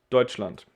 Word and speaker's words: Deutschland: can be a little confusing but this is pronounced deutschland it's germany if you want to ask the